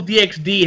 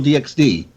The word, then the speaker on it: DxD: supposed to be pronounced High School DD? Because the X is usually silent.